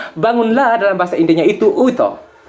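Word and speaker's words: उठो: Bangunlah dalam bahasa Indianya itu uto. Uto, tulisannya U-O-U-T-H-O. U-T-H-O itu bacanya uto, artinya bangunlah.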